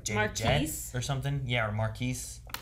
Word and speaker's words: Marquis: or something yeah or marquis marcus i guess is how you actually say it right it's marcus jet or is it marquis jet i guess he said marcus i think it's just marcus but it's spelled like q-u-i-s yeah but yeah